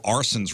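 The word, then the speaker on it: Arcen: I know an Arson, but it's not spelled like that. A-R-S-O-N? It's, Not no, our- it's This is A-R-C-E-N.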